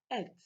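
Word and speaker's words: את: It is pronounced as et in Hebrew language.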